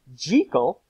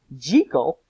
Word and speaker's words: Jekyll: Henry Jekyll, that's right, that's how they pronounced it, Jekyll, and one Mr.